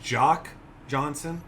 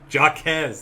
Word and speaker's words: Jaquez: Another guy, is this Jock Johnson? I don't want to mispronounce this. Now I'm going to lean on you for this. Jaquez. There we go.